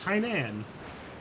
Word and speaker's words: Hainan: Oh, it's Hainan.